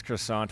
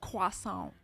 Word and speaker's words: croissant: way it is you you said it wrong though quas Quant and you have to put your your fingers together when you say it and shake them in the air Quant so we are